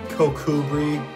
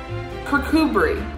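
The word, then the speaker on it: Kirkcudbright: kirk kirk cudbright kakubri oh god damn it kokubri kurkubri okay i wasn't that far off kirkubri i sound out so much like percood bright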